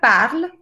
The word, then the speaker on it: parle: yo pago casi de parla se escribe parle pero la e no se dice en el francés ha